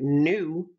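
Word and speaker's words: ν: V or pronunciation B it's actually the Greek letter nu represents the frequency of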